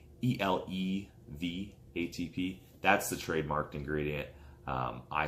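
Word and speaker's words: ElevATP: Now, it's not actually pronounced Elevate ATP. It's ELEV ATP.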